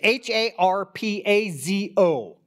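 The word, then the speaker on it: harpazo: proposal Harpo's yeah okay it's har PA zo that is the Greek word okay the New Testament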